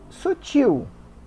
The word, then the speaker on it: sutil: leva acento útil isso Sutil tá Sutil é uma oxítona terminada em L não leva acento o mesmo acontece com